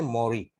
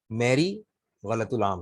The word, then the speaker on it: Mary: पढ़ते हैं, सही है, अमेरिकन में मॉरी है वैसे। ब्रिटिश में ये नाम MARYU लिखा जाता है। और ये मौरी जो है बाइबल में बीबी मरियम अलैहिस्सलाम का नाम है। अमेरिकन ने इसकी स्पेलिंग चेंज कर दी, MARY, दिस इज मौरी, मौरी। ठीक है, मैरी गलतुलाम है। अच्छा जी, लेकिन चलेगा, अगर कोई मैरी पढ़ा रहा है तो हम गलत नहीं कहते उसे, लेकिन सही तलफ्फुज इसका मौरी है।